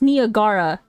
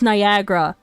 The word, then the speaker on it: Niagara: Like Niagara is spelled N I G A R A. So, when I first moved here, I thought it was pronounced Niagara, but then people were like, "Dumbass, it's Niagara."